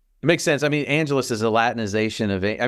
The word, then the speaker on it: Angelus: Well, going back at it with Marsters playing Spike, he calls Angel Angelus, right, instead of Angelus, which is how it's pronounced in just about every other episode.